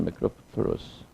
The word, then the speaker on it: macropterus: 여기서 보면 이 단어는 우리가 다시 볼 일이 별로 없기 때문에 그런데 자 여기서 보면 macropterus 발음부터 한번 Macropterus. macropterus, 두 번째 없는 절의 강세.